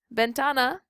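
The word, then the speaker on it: ventana: gets the stress bentana bentana ends in an A and Rule Number Two tells us if a word ends in a vowel n or S the second to the last syllable gets the stress so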